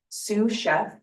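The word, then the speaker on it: Sioux Chef: Um, Sue Chef, but it's spelled S I O.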